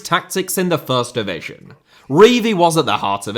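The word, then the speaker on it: Revie: Revy, as he liked to be known, not Revy, just in case you were wondering why I kept pronouncing it like that, ended his career at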